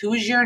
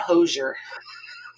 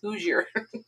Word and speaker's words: Hoosier: them so if you're not from indiana it's pronounced hoosier not hoosier a lot of people oh look at those hosers and no it's hoosier i think it's hilarious oh christina you don't